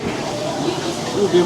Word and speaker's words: ube: So how do you pronounce it? Ooh-Beh Martini.